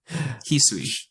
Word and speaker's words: Hisui: Not just Sinnoh now, but also Hisui. I hate that name. It is not easy for English speakers to pick up that pronunciation, I will admit. Hisui. Chop suey.